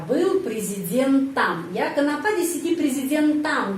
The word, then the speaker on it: президентом: если бы Я был президентом. Ya, kenapa di sini президентом ucapannya am? Karena президентом pengucapannya ada yang penekanan. Ya, penekanan berada pada huruf Y. Karena itu O ini dibaca A, президентом.